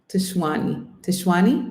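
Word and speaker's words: Tshwane: Tishwani?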